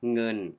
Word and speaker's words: เงิน: you pronounce the word เงิน Listen carefully is a ง Sound ง ง เงิน โอ It's Like ng Sound Like Singing ิ ิ Singer เ